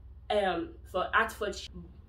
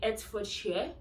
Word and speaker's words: Hertfordshire: For Hertfordshire. A lot of international students say Hertfordshire, and I think I used to make that mistake too. I'm not so sure, but it's actually Hertfordshire. You don't pronounce it as you pronounce it as A.